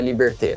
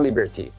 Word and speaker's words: Liberté: Este é Liberté, não Liberty.